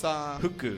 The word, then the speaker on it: Huku: to have Soji versus, it's not Fuku, it's Huku. Huku, yeah, it's Huku.